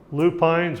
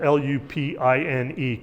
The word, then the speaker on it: lupine: It is spelled Lupine, correct? And the word for the big trees on the top of the mountain is Pine, and we call those pine trees, correct? We don't call them pin trees. So I don't know where lupin came from. Lupine. Okay, it's spelled the same as pine.